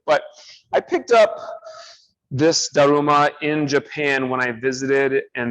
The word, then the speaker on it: Daruma: They call Bodhidharma Damo, and this is a Japanese thing, so the Japanese kind of pronunciation of Damo is kind of like Daruma.